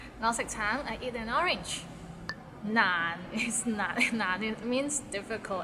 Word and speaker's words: 難: 難 is not難 it means difficult and it's difficult to pronounce, so it starts with n and ends with another n. 難 and it's in a low tone, so 難.